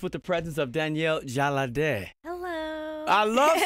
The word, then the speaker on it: Jalade: We are getting ready for the weekend, and I'm blessed with the presence of Danielle Jalade. Hello. I love saying your name. Am I saying it right? Yes, awesome. You are.